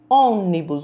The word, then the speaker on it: ônibus: E por último, ônibus, recebe também o acento circunflexo na palavra ônibus, um som mais fechado.